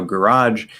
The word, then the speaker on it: garage: thing with garage now garage actually has two possible pronunciations um that are perfectly fine for that last sound you can just use j you don't have to use the the part and make it j you can say garage that's easy and that can also become devoiced into an sh you say garage garage okay or if you use the jit pronunciation which is also fine um whichever one comes